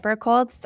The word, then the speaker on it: Birkholz: So, Birkholz, well done on the pronunciation, Joe.